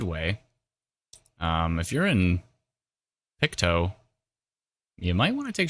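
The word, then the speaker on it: Pictou: Oh, Picto is how you pronounce it.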